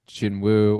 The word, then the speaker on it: Jinwoo: But once uh uh K-pop Demon Hunters Chinu came on board, I'm like that's it. That's how you pronounce that name.